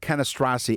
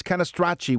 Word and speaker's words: Canastracci: And by the way, what's this with Canastrasi? It's Canastracci with the CI is pronounced CHI.